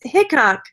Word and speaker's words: Hickok: It's Hickok. Okay. It is. It's Hickok. Okay. Well, like this Wild Bill Hickok.